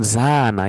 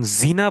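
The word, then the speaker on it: زنا: আর যখন জিনা বলতেছেন, টানটা থাকতেছে না মাঝখানে, তখন এটা হয়ে যায় ব্যভিচার।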